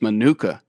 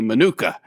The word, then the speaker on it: manuka: more of a a manuka um and so they they switch the emphasis a little bit different emphasis on the different syllable or whatever you know